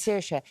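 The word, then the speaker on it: Saoirse: a very early age to say my name's sirisha s-a-o-i-r-s-e and she just used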